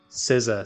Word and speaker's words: SZA: SZA, so I said it right.